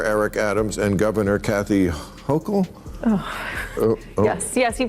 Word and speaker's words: Hochul: What do you New Yorkers think of how Mayor Eric Adams and Governor Kathy Hochul? Yes, you pronounced it right.